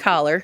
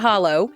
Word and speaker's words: holler: spelled like holler, said like holler, not hollow. If you say hollow, the hills can tell.